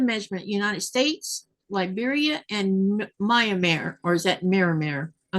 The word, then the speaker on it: Myanmar: Mirror, is it Myanmar or is it Miramir? Man, I cannot pronounce that word.